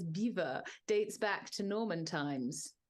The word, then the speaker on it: Belvoir: But I'm sure you say it is pronounced, the name Belvoir, meaning beautiful view in French, and pronounced today as beaver, dates back to Norman times.